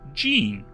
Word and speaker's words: Jean: nugget to mention, but my name is pronounced Jean like the pants. It's not the correct way to say my name, but it's been this way for years. So, lean mean Jean does rhyme.